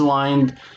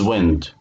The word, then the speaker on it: wind: So turn the stem, the meaning of it, turn the stem, rhymes like find. So this is wind, this is wind.